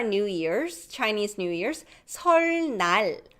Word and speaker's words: 설날: If 리을 comes first and then 니은 follows, still it's pronounced as 르. So Lunar New Year's, Chinese New Year's, 설날.